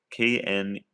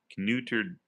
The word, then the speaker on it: Kneuterdijk: Kneuterdijk or Neuterdijk. Maybe the K is silent. Neuterdijk. Neuterdijk. It'll end in Ike. Ike.